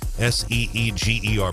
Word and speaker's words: Seeger: Seeger, pronounced Seeger.